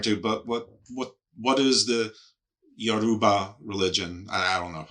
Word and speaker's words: Yoruba: Americans call it Yoruba. I'm not sure if you've heard that. Like Aruba. But yeah, Aruba, but with a Y.